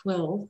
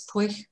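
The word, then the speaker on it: Pwyll: to pronounce this one name is spelled p-w-y-l-l i would have said quill or something but it's poi because welsh is very strange i have welsh ancestry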